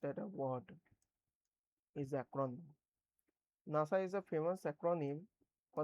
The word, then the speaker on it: NASA: A word formed with the initial letters of the words pronounced at a word is acron. NASA is a famous acronym for the National Aeronautics and Space Administration.